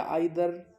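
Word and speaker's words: either: अब कुछ लोग कह रहे हैं ईदर या आइदर, नीदर या नाइदर। स्टूडेंट्स, दोनों प्रोनाउंसिएशन सही होते हैं। अमेरिकन में इसको ईदर कहा जाता है और ब्रिटिश लैंग्वेज में इसको आइदर कहा जाता है।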